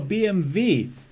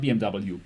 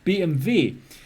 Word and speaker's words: BMW: Benz it's made for BMV yes that's how you pronounce it not BMW BMV it is made for